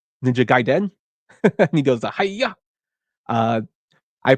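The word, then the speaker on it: Ninja Gaiden: on the NES uh I found out how to pronounce it through the 1989 film The Wizard which is ninja gaen he goes hiya uh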